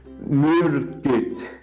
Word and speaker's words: myrkyt: Like, the first word has two Y's in it, and it's pronounced myrkyt.